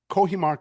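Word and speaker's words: Cojímar: Um so before we get into some of my well some of the questions I really want to ask uh Kohimar, Cuba, why is that?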